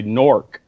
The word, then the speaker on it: Newark: said that too but they all say Newark in New Jersey they say knork yeah okay anyone anybody